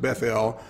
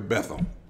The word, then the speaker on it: Bethel: Now, and some have pronounced it Bethel, but I don't want to be fancy like that. I'm just going to call it like we call it in America, Bethel.